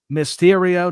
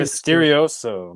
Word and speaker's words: Mysterio: Mysterio, not Ray Mysterioso.